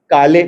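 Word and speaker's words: काळे: कोई महाराष्ट्रियन है यहां एक सरनेम होता है के एल ई स्पेलिंग होती है और उसको बोलते हैं काले काले अपन पढ़ते हैं है ना और महाराष्ट्रियन में काढ़े होता है काढ़े ल को र जैसा बोलते हैं काढ़े काढ़े है ना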